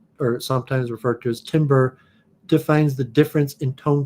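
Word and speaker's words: timbre: instruments produce different sounds a Timber sometimes pronounced tamber Timber is the quality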